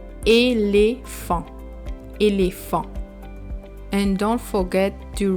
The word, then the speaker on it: éléphant: And the T is silent. So you read the word éléphant.